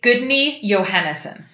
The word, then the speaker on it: Guðni Jóhannesson: So can you, I'm not very good at pronouncing very many things in Iceland. So your husband's name is? Well, I just say Gudni Johannesson. Gudni Johannesson.